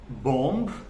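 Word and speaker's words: bomb: लोग बोल सकते हैं बम बट बम नहीं होता दिस इज कॉल्ड बम इसमें जो बी होता है the last one that is silent so this is नॉट बम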